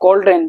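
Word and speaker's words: cauldron: स्त्री ये वाली अब कॉड्रेन जो कढ़ाई होती है उसको हम बोलते हैं कॉड्रेन कॉड्रेन एल साइलेंट है तो कॉड्रेन क्या बोलते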